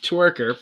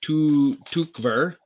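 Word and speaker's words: Tykwer: while good vibes okay tom twerker pronounced tu tukver was a director of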